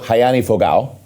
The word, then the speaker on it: Rayanne Fogle: uh Angela Borges and if you're in America Rayanne Fogle in Brazil hayani fogal and that was perfectly pronounced thank you my friend